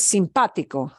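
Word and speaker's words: simpático: it breaks the rule the word for nice simpatico simpatico the way we pronounce this is simpatico but if you look at it it ends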